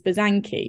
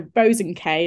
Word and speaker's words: Bosanquet: And like the way my family pronounce it is Bosanquet, which is completely different to how it looks. So Bosanquet is a bit more posh and, you know, I like that.